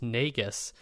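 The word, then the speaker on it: Negus: Um his latest album from 2019 is pronounced Nagus and it premiered at Art Basil in Hong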